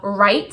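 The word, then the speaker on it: write: For example, the right, how it has the WR, so the W is silent, or gnat, the G and N is silent.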